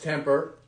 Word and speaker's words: TMPR: here from Temper sports TN PR pronounced temper and we're gonna give